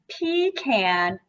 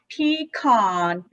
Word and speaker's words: pecan: furious debate going on there's actually four ways to pronounce pecan okay but i don't say pecan that yeah so you can say pee can pee con pecan or pecan so it's like all about where you place the emphasis and none of